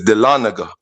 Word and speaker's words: Dahlonega: I don't know if you could pull it up on the screen, Gans, and spell it to him again. It's Dahlonega. It's Dahlonega.